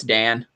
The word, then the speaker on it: Dan: In Japanese pronunciation, is it Dan pronounced as Don? No, it's Dan.